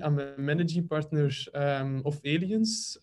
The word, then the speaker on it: Allyens: I'm a managing partner of Allyens, not Alliance, not Alliance, or how you would pronounce it.